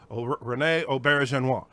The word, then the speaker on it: René Auberjonois: Hi, this is René Auberjonois. Okay, so then I just stopped and I would like repeat that. This is René Auberjonois. And over and over so I could say René Auberjonois. René Auberjonois.